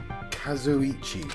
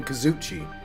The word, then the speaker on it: Kazuichi: I've been saying his name wrong all this time. Kazuichi. Of course that doesn't include Miss Sonia and me. I've been calling him Kazuchi.